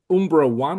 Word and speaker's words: Umbra I: the sort of the Umbra one or Umbra I. How do you pronounce it? What's the Umbra One. Umbra one? Yeah. Okay.